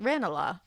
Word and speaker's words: Ranelagh: Ranelagh. That's really pretty. I love when the pronunciation people are like, Ranelagh.